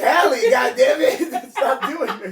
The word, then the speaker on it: Halle: Is it Hie or is it Haley? It's Hie.